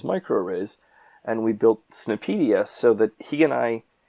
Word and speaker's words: SNP: Fields jargon and lingo that became pronounced as a snip so these were snip